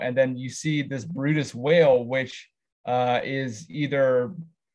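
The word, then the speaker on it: Bryde's: it's called the bride's whale it's called It's pronounced Brutus um and this little Glimpse was enough to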